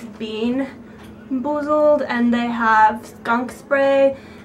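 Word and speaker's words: BeanBoozled: I was actually saying the name wrong. It's bean boozled, and they have skunk spray, pencil shavings, barf, moldy cheese, booger, and baby wipes.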